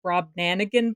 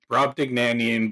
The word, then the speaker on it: Brobdingnagian: I also can't actually pronounce their name, the Brobdanagan Bards. Brobdingnagian bards.